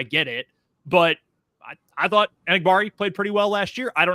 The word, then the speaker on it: Enagbare: But the practice I was at, Hollins was ahead of Enagbare, and I think it's Enagbare, I've been told is the way that's pronounced.